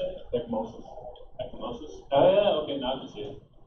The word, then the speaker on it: ecchymosis: Ecchymosis.